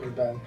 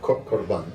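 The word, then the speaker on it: قربان: "...Qurban, as well". Qurban, okay.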